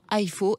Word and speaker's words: IFAW: Et déjà, IFO, ça s'écrit I-F-A-W.